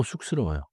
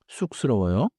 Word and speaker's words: 쑥스러워요: Now 쑥스러워요. The first syllable has the double consonant 쌍시옷, so it starts tight. 쑥스러워요.